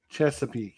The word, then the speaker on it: Chesapeake: How do you pronounce that? Chesapeake, yes.